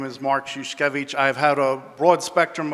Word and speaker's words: Szuszkiewicz: A pair of shoes, then, and then each. So, my name is Mark Szuszkiewicz.